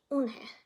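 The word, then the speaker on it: Unhei: Yes, it's pronounced Eunhae, and it means grace, Mr. Kim added. Eunhae. Joey said slowly and this time perfectly. It made Eunhae smile.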